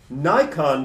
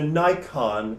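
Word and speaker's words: Naikan: Nikon practice is spelled in English transliteration N-A-I-K-A-N, different from the camera.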